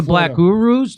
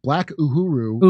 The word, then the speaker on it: Black Uhuru: they're doing it to Black Urus. They're doing it to, how do you say it? Black Uhuru is the group that that's right.